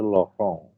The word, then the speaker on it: Laurent: kita namakan sebagai deret lorong ya atau lorong steris tulisannya Lauren Kalau Anda tanya orang Perancis Gimana bacanya itu lohong nah ini sebenarnya deret